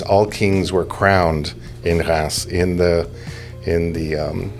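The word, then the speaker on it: Reims: The the main city that all of this comes from is spelled like it would be pronounced reams. But in French, of course, nothing can be easy. So the pronunciation of the word is actually Ras.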